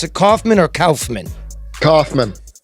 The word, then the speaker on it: Kauffman: Hey, Jeremy, do you pronounce it Kauffman or Kauffman? Kauffman.